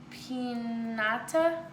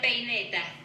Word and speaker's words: peineta: Tia Cuca gave her una pinata, I think. Oops, hold on. Let's make sure. Una peineta. Una peineta.